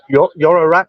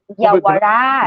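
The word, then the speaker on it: Yaowarat: Is that Yorarat? Is it that area? Yawarat. Yeah, I pronounced it wrong.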